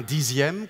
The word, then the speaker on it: dixième: Et un dixième qu'on écrit X mais qu'on prononce Z.